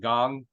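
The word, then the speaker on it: Kang: Pirates yeah yeah but he actually pronounced it gong uh but he was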